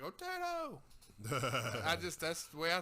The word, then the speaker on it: Otito: Oh, Tito.